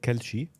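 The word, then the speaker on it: Kalshi: One is called Kelshi, which is the Lebanese pronunciation of Kulshi.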